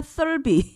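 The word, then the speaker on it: Thirlby: 그리고 주연은 발음을 조심해야 됩니다. 한국에 없는 발음 그거. 올리비아 썰비.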